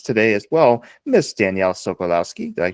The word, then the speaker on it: Sokolowski: And we have with us today as well Miss Danielle Solowski. Did I pronounce that correctly?